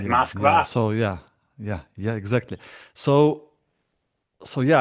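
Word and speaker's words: Москва: This pronunciation is from the US. America, just like Moscow. Nobody in Russia says Moscow, do they? Right. Right, Yeah. Moskva.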